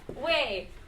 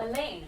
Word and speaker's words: Elaine: Wei. Yeah, okay. Did I say you're saying your name right? No. How do you say it? Elaine. Oh, Elaine. Yeah.